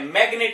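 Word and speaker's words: magnet: Exceptions देख लीजिए जहां साइलेंट नहीं मिलेगा आपको। मैग्नेट, सिग्नेचर, सिग्नेचर, इसमें जी बोला गया, साउंड निकली है। मैग्नेट, यहां पर भी जी की साउंड निकली है।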